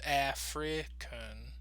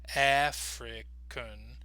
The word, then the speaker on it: African: international pronunciation alphabet but you can say it two different ways African African so using the sound